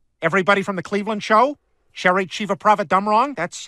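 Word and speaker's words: Cherry Chevapravatdumrong: Star Wars characters everybody from The Cleveland Show Cherry Chiva prava dumrong that's how that name is pronounced the Orville the ship not the cast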